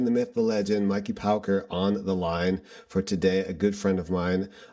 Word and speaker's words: Pauker: So, Mikey Pauker, pronounced Pauker, is a devotional rock artist from Laguna Beach, California.